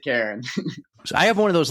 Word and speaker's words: Caron: Karen. Ah, yes. Yeah, it's it's French Canadian, so if you're French, you could pronounce it differently, but I pronounce it Karen.